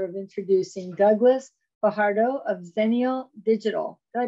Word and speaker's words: Xennial: have the pleasure of introducing Douglas Fajardo of zenial digital did I pronounce that correctly yeah you do okay good